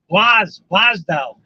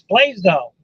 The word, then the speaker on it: Blasdell: local TV station, and she pronounces it Blasdell. B-L-A-S-Dell, Blasdell. It's Blaisdell. But that's okay.